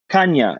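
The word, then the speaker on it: Chania: you mentioned crete and i don't know how to pronounce the name shania or shania uh it's on the north side of the island i think it's spelled c-h-a-n-a-i oh kanye exactly exactly yeah i've heard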